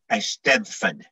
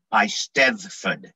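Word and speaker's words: Eisteddfod: premier bardic competition pronounced a steadfan the double d is pronounced th hard th the single b at the end is pronounced d by stefan okay because i've never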